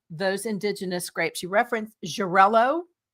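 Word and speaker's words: Xarel·lo: Jarello, which is spelled X A L O.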